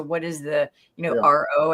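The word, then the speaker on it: R0: is the you know R O I think it's pronounced R not but what is the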